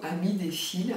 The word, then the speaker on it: Ami des fils: cardée et j'ai choisi Amy des fils ou Ami des fils si on prononce à la française pour la partie couture, tricot, broderie.